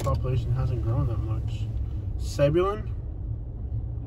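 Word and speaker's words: Zebulon: Sebulon? Is that a Bible name? Sebulon? Yeah. I know I'm pronouncing that one right. Zebulun.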